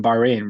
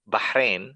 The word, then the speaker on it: Bahrain: listeners yeah for sure so bahin actually it's pronounced but Bahrain it's much easier it rolls off the tongue it's a small island